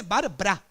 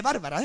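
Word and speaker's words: Barbra Streisand: Yo lo leo y pone Barbara. No pone Bárbara, ¿eh? Barbara. Pues Barbara Streisand o algo así. Yo creo que conocéis la historia de Barbara Streisand, esa que en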